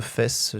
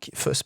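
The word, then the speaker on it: Faes: Et donc, l'occasion de Fess sur un coup franc. Fuss, pardon. Wout Fuss, parce qu'on nous a reproché de mal le prononcer, voilà, qui échoue à pas grand chose de reprendre ce coup franc.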